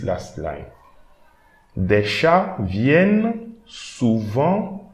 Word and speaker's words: souvent: Okay, this T we should not read. So souvent, souvent.